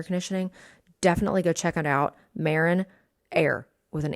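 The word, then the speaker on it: Marinaire: a and I think the recording even says Marine air because the recording doesn't know how to say it but when I talk to a person on the phone it's Marin air so we did that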